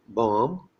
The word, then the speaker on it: bomb: Then we have MB, where B is silent, as in bomb, comb, tomb.